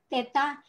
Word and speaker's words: theta: tengahnya ada garis ini Teta ya kita bacanya th kemudian ini huruf i-iii